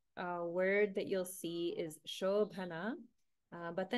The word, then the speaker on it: शोभना: Because of Sandhi, the A in Ashobhana becomes combined with the A in Prita. So we have Prita Shobhana. Prita Shobhana. So I'm going to pronounce it as Shobhana without the A, just to indicate the melody.